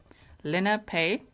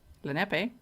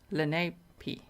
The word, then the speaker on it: Lenape: live six miles north of the prison it's pronounced Lanae Lena pay Lenape or Lane P Lenape after the local Native American tribe oh